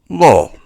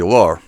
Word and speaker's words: law: So, English, you pronounce it law. Law. But a lot of people, even professionals, will say law. I'm going to get the law onto you, and they put an R in there.